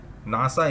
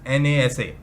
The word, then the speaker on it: NASA: NASA is never said as NASA.